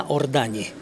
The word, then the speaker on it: Ордані: Е, ойнаріці на ордані в оригіналі, так як вимовляли наші предки.